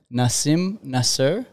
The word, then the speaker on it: Nasim Nasr: welcome so we have the one and only Nasim Nasser is that how it's pronounce it yes correct and you are an